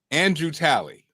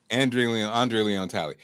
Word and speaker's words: Andre Leon Talley: So Andrew Talley, who passed away, right? Andre Leon Talley. Andre Leon Talley. Denise, say it right.